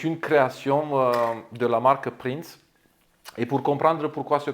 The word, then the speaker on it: Prince: C'est de là le nom de Prince et pas Prince comme on le prononce en français.